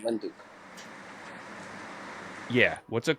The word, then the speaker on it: Windhoek: Wind, like wind, you spell it the same way. Wind, wind, hook, like corner.